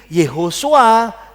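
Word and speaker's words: Yehoshua: Ini ini vokalnya ho, ini o-nya swa. Nah ini Yehosua. Yosua adalah Yahweh adalah keselamatan. Jadi kalau diterjemahkan dari kata Ibrani ke bahasa transliterasi kita, Yehosua bacanya seperti itu.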